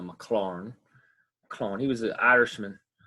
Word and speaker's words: Maclaurin: We just can't call him the McLaren series. Well, you could if you'd like, but the way you pronounce him is the Maclaurin.